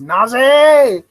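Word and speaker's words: なぜ: I believe I believe the proper way to say the word why in Japanese is Naz I'm just so happy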